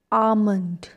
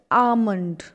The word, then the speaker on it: almond: its correct pronunciation is almond we don't say l we don't use l in this l is silent we call it almond almond i eat five